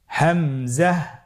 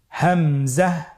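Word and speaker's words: همزة: হামজা হরফটি উচ্চারণ ক্ষেত্রে বারিক করে উচ্চারণ করতে হবে এবং এখানে টেনে পড়া যাবে না। দ্রুত পড়তে হবে। আপনারা আমার সাথে বলুন হামজা হামজাহ হামজা হরফটি উচ্চারণ স্থান হা এর মতই।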